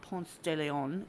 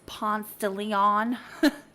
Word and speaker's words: Ponce de Leon: de leon springs and it's not ponce de leon trust me you'll get completely burned if you say that in that town because that's not how you say it um it's ponce de leon and it's a national